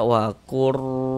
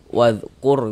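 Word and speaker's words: واذكر: Jangan dibaca wakur gitu kan, jangan. Pendek saja. Wadhkur gitu.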